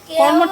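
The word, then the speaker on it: কর্মঠ: ভাবছিলাম কি জান উচ্চারণটা ভালো মত না করলে তো এরকম অবস্থাই হবে কর্মটকে কমট বললে হবে কর্মট কর্মট কর্মট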